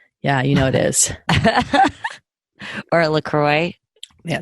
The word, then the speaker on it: LaCroix: I think it's not supposed to be fancy. It's not supposed to be Croix. It's just LaCroix.